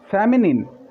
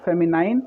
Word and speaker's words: feminine: फेमिनिन, इसको फेमिनाइन नहीं, फेमिनिन पढ़ा जाता है.